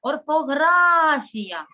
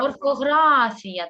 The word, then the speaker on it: орфографія: це слово і поставимо поставимо в ньому наголос орфографія куди наголос падає орфографія правильно орфографія так Або можна ще